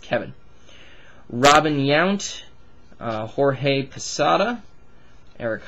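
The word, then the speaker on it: Que'vonne: His name was Q-U-E apostrophe V-O-N-N-E, and it was pronounced Kevin.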